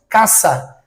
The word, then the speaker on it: casa: Então, em espanhol, nós não falamos casa, nós falamos caça. O som do S é um som de C cedilha, tá?